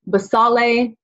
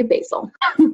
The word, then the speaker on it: basale: granulosum spinosum and then the last one is pronounced three different ways basale the sale and basil i like to say basil okay so we'll break